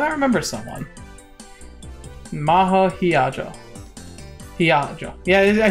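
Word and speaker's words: Hiyajo: Hiajo.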